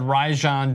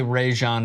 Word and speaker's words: Rajon: a co-worker of mine it's like rye bread Rajan don't say Rayshawn it's Raja not like